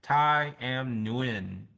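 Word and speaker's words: Tai Nguyen: Thai Muin or like I win the game.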